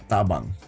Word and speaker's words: tabang: It's tabang like t a and bang. But the A's here are like they're more they're not up they're a bit more they're down.